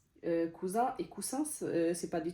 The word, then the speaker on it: cousin: Donc c'est vraiment, si vous écrivez cousin avec deux S, sachez que vous écrivez pas le même mot. Cousin et coussin, c'est pas du tout la même chose.